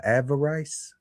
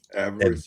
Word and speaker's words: avarice: So greed is given to us in uh what how do you pronounce this guy? Avarice. Avarest.